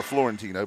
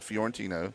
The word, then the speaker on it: Linda Fiorentino: story for everybody Linda fantino which gets pronounced mispronounced probably more than any name out there call her Florentino but Linda fiorentino yeah it was her first film yeah and